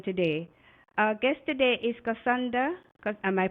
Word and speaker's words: Kissondra: lives of women today our guest today is candra am I pronouncing your name right yes Cassandra on this episode we look at her